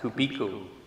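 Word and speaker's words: kuebiko: offers this new word I pronounce it kubiku Kubo it's KU e b i k oo and he defines this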